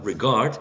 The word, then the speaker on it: regard: to the last word uh regard it's going to be the second syllable the one stressed okay regard and um